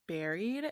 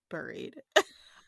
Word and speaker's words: buried: And let me just say that you said buried, and I think it's buried.